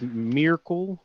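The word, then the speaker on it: Myrkul: the dead three but it's miracle but it's spelled m-y-r-k-u-l they're called bane yeah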